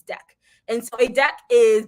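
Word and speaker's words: deque: It's pronounced deck. Don't say, some people say DQ.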